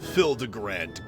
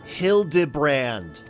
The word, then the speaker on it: Hildibrand: Since parting ways, I've searched every alien dive bar in Everkeep for signs of this Hildigrand character. It's pronounced Hild Debrand.